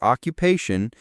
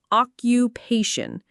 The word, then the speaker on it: occupation: The pronunciation is occupation. It has four syllables and the main stress is on the third one.